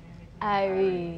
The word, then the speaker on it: irie: No, say it cooler. Say it cooler. Irie. You have to show us. You have to show us how to say it. Say it mellower then. Irie. That's it right there.